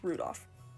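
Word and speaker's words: Rudolf: on it's just anyway this guy's name is pronounced rudolph he must hate grandfather for giving him that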